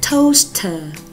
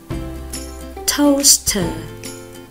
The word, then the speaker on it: toaster: Khi O và A đi cùng nhau, A rất xấu hổ nên bạn A rất xấu hổ nên bạn A im lặng, chỉ có bạn O lên tiếng thôi. Vì thế O và A đi cạnh với nhau thì chỉ được phát âm là O.